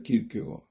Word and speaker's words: Kierkegaard: Tengo que hacer un pequeño desvío, un excursus, para decir quién es Kierkegaard, que lo verán escrito como Kierkegaard, Kierkegaard, con K las 2 veces, pero se pronuncia Kierkegaard.